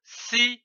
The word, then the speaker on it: sirop: syllabes donne le mot sir on ne prononce pas le P comme ici du sirop nous avons vu la